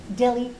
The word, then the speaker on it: Delhi: Polly, the H is silent. It is pronounced Delhi, not Delhi.